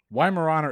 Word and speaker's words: Weimaraner: a little bit um i'm gonna say the weimaraner why murano is a correct answer and i told you i was pronouncing that name wrong cheers i'll drink to